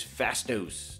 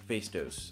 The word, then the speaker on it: Phastos: there he is guys fast dose not face dose i just realized i've been pronouncing it wrong this whole time and